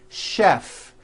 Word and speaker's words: chef: of words that are spelled with ch and are also pronounced with the sh sound words like chef and the City of